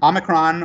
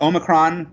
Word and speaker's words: omicron: viral load matters now omnicron omicron or omicron i hear it pronounced over and over again both ways so omicron omicron